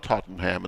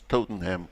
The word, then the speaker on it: Tottenham: probably going George it's not Tottenham it's toting him okay Romford r om